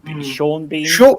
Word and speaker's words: Sean Bean: Well, yeah, but Sean Bean. But it should either be Sean Bourne or Sheen Bean in any language other than English. Because you change one letter and you completely change the pronunciation.